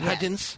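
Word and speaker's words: Hudgens: Vanessa hudin what's her name hudgin H Vanessa hudgin that's the way she pronounce it hudin DG Vanessa you hear about Vanessa hudgin having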